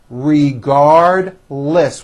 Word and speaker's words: regardless: are you referring to regardless regardless with a strong L I want to redo